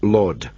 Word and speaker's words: Laud: very long time, Derek Laud. That's L-A-U-D, though the way he pronounces it, you might well think he's a lord, and all the world